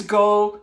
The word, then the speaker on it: Geaux: So if you want the complete recipes and the things that I am doing, please go to YouTube and subscribe to my channel. Let's Go Cook with Tiger. It's spelled G-E-A-U-X, just like at the top of the description of what I'm doing right here.